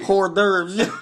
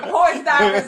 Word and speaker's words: hors d'oeuvres: Hors d'oeuvres. Horse divers, like Cole said.